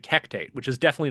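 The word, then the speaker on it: Hecate: cuz like her like Patreon deity is like Hectate, which is definitely not one of like the standard ones people know of. I learned that that's pronounced Hecati because of Hades, too.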